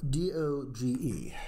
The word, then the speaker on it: Doge: Now, D-O-G-E, how did you pronounce that?